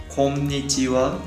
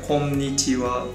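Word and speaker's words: こんにちは: Okay, in Japanese we say konnichiwa. Konnichiwa. Yeah, that word. Konnichiwa.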